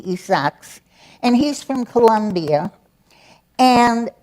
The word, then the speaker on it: Isaacs: the author's last name I'll pronounce it in English Isaacs in Spanish it would be isaks and he's from Colombia